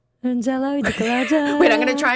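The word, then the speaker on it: Jhalak Dikhhla Jaa: Now, pronounce it for me again. Indian. It's called Jalak Diklaja. Jalak Diklaja. Wait, I'm going to try and pronounce it. Wait, Jalak Diklaja.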